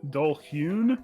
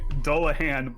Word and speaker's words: Dullahan: Dullhoon. No, Dullahan. Dude, I still can't get over how pretty this fucking book is. That's really nice. Yeah. Sorry, I was mixing Dullahan with Alhoon.